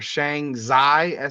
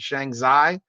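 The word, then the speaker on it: Shanxi: Kelsey Mitchell's been over in China playing for Shang zai sh a n z XI that's how you pronounce it Shang zai and right now her team is 15 and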